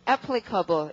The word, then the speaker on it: applicable: 자, 강세가 앞이어서요. 발음을 이래야겠네요. 자, 이거 뭐죠? 발음은 applicable 이고.